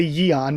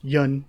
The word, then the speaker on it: Yun: the Yan family again I always say yon rather than Yan which or Yun it should be just Yun not not uh even like anything how I pronounce it um but so